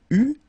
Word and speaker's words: eut: Il eut, final T not pronounced.